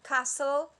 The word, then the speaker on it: castle: letters are mute like castle the t is mute or sword the w